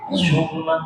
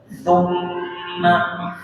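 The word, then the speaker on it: ثُمَّ: Cuma dalam pengucapan huruf fa, abada, fa itu cenderungnya terdengar seperti syair. Summa, tapi tumma, dengan fa saja ya.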